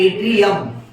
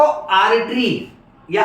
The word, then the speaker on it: एट्रिया: अच्छा, बहुत common pronunciation mistake. एट्रिया को आर्टरी या आर्टीरियम या आर्टीरिया बोलते हैं बच्चे, यानी जो खून की नस होती है ना आर्टरी, उसमें ए के बाद र का प्रोनाउंसिएशन आता है। एट्रिया में र नहीं डालना है बीच में, तो गड़बड़ मत करना बेटा, वो संभाल के बोलने का, ठीक है?